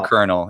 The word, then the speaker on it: colonel: being the one that we still use for kernel, even though because let's spell it like it's pretty.